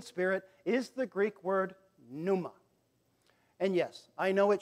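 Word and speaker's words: πνεῦμα: is the Greek word Numa and yes I know it should be pronounced panuma but the p is silent okay so Numa well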